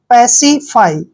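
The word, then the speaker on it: pacify: रुकावट next word देखिए पी ए सी आई एफ वाई देखिए पी का उच्चारण हम प करते हैं एक को एक की मात्रा पढ़ते हैं और जब भी सी आई इकट्ठा आता है तो उसको हम स और ई की मात्रा पढ़ते हैं और एफ वाई का उच्चारण हम फ और आ की मात्रा और ई पढ़ेंगे यानी कि पसिफाई देखिए पसिफाई पसिफाई क्या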